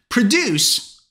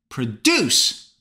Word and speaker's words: produce: Produce is a verb, which means to make something. Listen up. Produce. Where's the stress? First syllable or the second syllable? Produce on the second syllable. But as a noun, produce are vegetables and fruit. Now, where is the stress? Produce. First syllable.